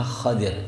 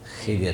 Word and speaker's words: Khadir: Nabi Allah Khadir yang betul bacanya khadir bukan khidir ya. Walaupun bacaan khidir itu bisa dibenarkan ya.